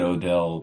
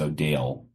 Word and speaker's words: Odell: Which, for anyone listening, it's spelled Odell. And I said Odell probably at this point a couple months ago to Mema, and I got corrected very quickly. It's O'Dale, which is, I think